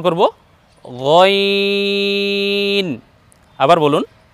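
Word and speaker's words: غين: দ্বিতীয়টা উচ্চারণ করব গইন। আবার বলুন গইন।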